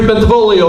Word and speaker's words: Bentivolio: forward to serving you my name is Kerry bentivolio the hardest part I am is kidding everybody pronounce my name correctly got to see when